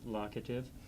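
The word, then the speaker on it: locative: It's pronounced lockative.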